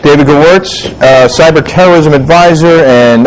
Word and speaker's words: Gewirtz: last name for me it is g-e-w-i-r-t-z gowertz it's it rhymes